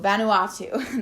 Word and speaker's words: Vanuatu: even a small pacific ocean nation called vanuatu vanuatu that's how you say it um so they